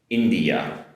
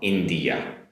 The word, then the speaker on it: India: Next up, different vowel sound here in English. It's India India compared to Japanese which is インド（In’dow）so India. Different vowel sound at the end.